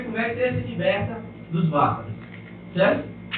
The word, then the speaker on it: vasana: Vou falar sobre os vasanas, mas vou falar mais como é que chama? Na pronúncia Vasana.